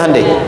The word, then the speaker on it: Hyundai: bikin Honda sini Hyundai Hyundai kan dibacanya hundai ya kan sana Honda sini hundai gitu j apapun yang dibuat